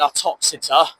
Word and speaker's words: Uttoxeter: You got signs there for Leicester, Derby and Uttoxeter. That rhymes with Exeter, weirdly.